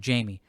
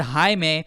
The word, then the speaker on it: Jaime: It's not like she was reading and mispronouncing the name wrong and saying Jamie. He said Jaime, and he said Jaime. She heard Jaime and said Jamie.